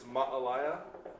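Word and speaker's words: Māʻalaea: But really traditionally it's Ma'alaya.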